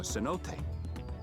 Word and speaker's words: cenote: I suggest you pay more attention to the ground, unless you want to walk straight into a cenote. Cenote. A cenote? That's not how you pronounce it.